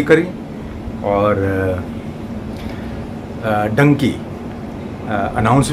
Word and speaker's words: Dunki: clear कर लू कि क्या एम I pronounce it correct डंकी को डंकी ही प्रोनाउंस किया जाएगा स्पेलिंग तो पता है डी यू एन के आई और डंकी का वैसे